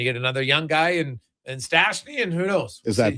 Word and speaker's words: Stastny: And then you get another young guy in Stastny, and who knows? Is that Peter Stastny's kid? No, he's American. It's spelled different, but Okay. it's just pronounced the same.